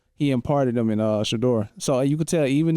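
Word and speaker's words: Shedeur: Shador.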